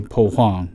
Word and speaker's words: Huang: that all confused sometimes they'll pronounce it with a W or an H or um but those are different pronunciations right just say poong that's that's what it is did you choose your